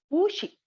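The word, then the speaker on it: 不: So pu will be pronounced in second tone, that is the high rising pitch. So it will be pu she, pu she.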